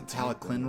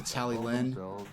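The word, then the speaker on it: Talyllyn: like a k sound so it's absolutely the teleclin railway and not the tally Lynn which is which is what I thought it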